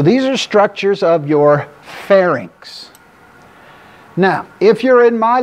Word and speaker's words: pharynx: are structures of your pharynx now if you're in my lectures you've already heard this do not let me catch you people ever ever ever saying pharnix look at where the